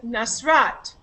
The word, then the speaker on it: Nasrat: right the first syllable and nasrat which syllable is stressed in your name i missed a syllable so the second syllable gets stressed correct okay so that's